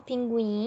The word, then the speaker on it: pinguim: para pintar nesse caso pinguim a gente já viu que o é pronunciado né então pinguim eu poderia ser pintado